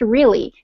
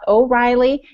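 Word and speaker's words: Realy: e a l y it is pronounced really it is not O'Reiley it is not Mary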